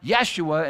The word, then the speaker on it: Yeshua: Yeshua, like Yahashua, which becomes a name, you know, pronounced Yeshua in Aramaic, or in English, Jesus.